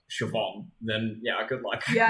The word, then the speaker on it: Siobhan: you take Irish names if you don't know the pronunciation of like Siobhan then yeah good luck